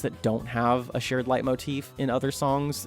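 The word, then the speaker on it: leitmotif: Late light late motif. Light motif.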